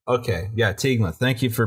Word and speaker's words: Teignmouth: Teignmouth. Teignmouth. Okay, yeah, Teignmouth. Thank you for pronouncing that, so saving me some embarrassment there.